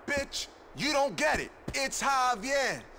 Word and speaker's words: Javier: It's Javier. It's pronounced like an H.